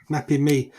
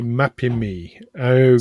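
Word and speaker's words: Mapimí: It's Mapimi. Mapimi. Mapimi. In Spanish, okay. the emphasis is always on that little accent, or on the penultimate syllable. Right. Okay. Mapimi.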